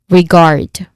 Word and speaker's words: regard: And followed by a short A vowel sound and then a consonant cluster of the sounds that the consonant letters R and D makes. So that's regard. Again, regard. The stressed syllable here is the second syllable, guard. So it is with regard to.